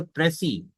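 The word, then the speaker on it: précis: Question number two है आपका right अ प्रसी। इसमें एस साइलेंट होता है बेटा।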